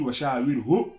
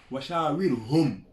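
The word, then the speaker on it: وشاورهم: Il a dit Washa'awirhu fil amr. Quand il dit Sha'awirhu fil amr, il a utilisé un pronom complément, singulier. Alors que c'est dit Washa'awirhum.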